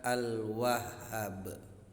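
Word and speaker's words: الوهاب: wahhab al wahhab Hai pembacaannya harus ditekan karena Huruf H pada asmaul husna al wahhab itu terdapat tasydid F dan setiap huruf yang memakai tested harus ditekan membacanya al-wahhab baik adalah asmaul husna al wahhab jika ditulis dalam bahasa Arab adalah al-wahhab haknya dibaca panjang ya haknya dibaca panjang al-wahhab asmaul husna al wahhab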